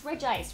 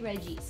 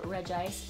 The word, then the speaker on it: Regice: It's Regice, right? It can't be Regis, because he's an ice Pokemon. I've decided to pronounce it Regice. I hope I'm correct. Regice, unsurprisingly, is an ice Pokemon.